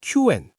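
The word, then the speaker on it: Qwen: 먼저 알리바바의 QN. Q&이라고 읽어요.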